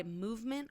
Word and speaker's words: MVMT: And Movement is spelled MVMT.